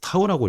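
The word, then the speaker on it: τ: 그래서 타우라고 읽어요. 타우. 뭐 토크라고 하기도 하는데 여기서 타우라고 할게.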